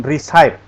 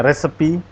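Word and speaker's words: recipe: Write a respe resepe ya bukan resye ada yang masih bacanya resy ada yang baru tahu bacanya resepi Oke resepi ya resepi rek itu Rek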